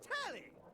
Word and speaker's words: Telly: The name's Telly, rhymes with Nelly, like, whoa, Nelly!